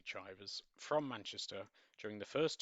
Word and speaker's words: Chivers: It could be pronounced Chivers, I'm going to say Chivers, from Manchester during the first 2 years of the Second World War.